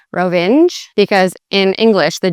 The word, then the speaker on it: Rovinj: And so it's not even like a single letter at the end, it's actually Nj at the end. So Rovinj. And you'd put the emphasis again more on the beginning of the word than on the end of the word.